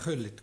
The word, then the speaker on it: Gullit: La pronuncia è Gullit, questo l'ho già visto.